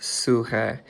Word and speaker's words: psyche: And the Greek word for soul is psyche. It's pronounced suhee.